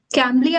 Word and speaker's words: Cambly: having conversation with a lady like I think Cambly application. Yeah, Yes. if I'm Yeah. pronouncing it right. Yeah. Yeah, it is Cambly.